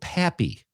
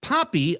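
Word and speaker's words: Papi: It was called Papy. P A P I which means father or dad in Spanish. Poppy.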